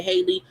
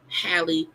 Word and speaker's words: Halle: If I mispronounce and I say Haley, please know I'm not trying to mispronounce her name. I hate that I do, but I know her name is Halle Bailey, but it always looked like Haley to me.